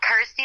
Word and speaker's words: Kirsty: and of course obviously it helps that it's you know rhymes with my name and helps people pronounce my name correctly so I'm like cool Kirsty like thirsty got ity like thirsty